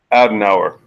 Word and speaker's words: Adenauer: The reparations program, which was created when Konrad Can you pronounce that for me, Nagon? Adenauer.